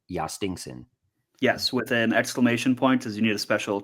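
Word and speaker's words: Jhostynxon: Justen Garcia. How bad was that? Good enough for me. Just to spell it, it's J H O S T Y NX O N. Yastinson.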